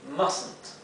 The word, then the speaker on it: mustn't: Y se abrevia así, mustn't. Sin embargo, en la abreviación, esta T que ven aquí no se pronuncia.